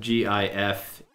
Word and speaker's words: GIF: I'm finally decided that gif is pronounced like the peanut butter and therefore I am